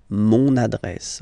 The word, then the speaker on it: mon adresse: mon adresse, my address, mon adresse, okay, you can hear now this little link, so you get to pronounce this N, mon adresse, okay.